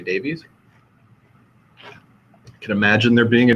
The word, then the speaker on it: Davies: a very common one I think it's pronounced Davis what we say Davies can imagine there being